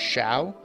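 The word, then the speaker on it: Xiao: So if anyone knows, because it's like in Dark Cloud, you know, Z-I-A-O or O-A, something like that, was pronounced Shao.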